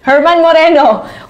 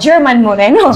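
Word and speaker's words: Germán Moreno: laughing about it because i'm mispronounce the name of of Kuya jms Kuya Germs Herman Moreno Which I said na sa sobrang kabak koin ang nasabi ko German Moreno German Moreno siguro yun yung isa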